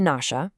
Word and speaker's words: Nashia: You've got the Nasha, that's spelled Nashia, who he says look kind of like ancient Mayans.